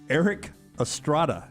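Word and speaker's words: Erik Estrada: We're starting with basketball here and then getting quickly in this first hour to Eric Estrada. Am I saying that correctly? You are, yes. Eric tough one to pronounce.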